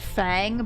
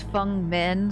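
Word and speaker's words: Feng Min: A lot of people pronounce it Fang, but I think it it the correct pronunciation of that name is Fung Min.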